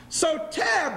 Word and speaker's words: Soter: assumed the throne and his nickname was sotel everybody say sotel you really want to write it down it's spelled s-o-t-e-r so tear brothers and sisters means